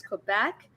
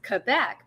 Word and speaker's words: Quebec: for pronouncing quebec is quebec that's how it is in the um militarized alphabet because if i pronounce it correctly the french way which is quebec people would be like